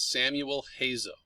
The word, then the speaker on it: Samuel Hazo: composer whose name is samuel hazel he hails from pittsburgh pennsylvania got his formal music training at duchenne university it doesn't sound like the way it's spelled but that's how it's pronounced um he has actually